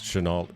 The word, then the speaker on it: Chennault: suppose but I learned how to pronounce Chenal it's kind of French I guess I don't